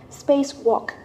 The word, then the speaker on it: spacewalk: only boredom come yang spacewalk the stress is on the first syllable now let's move it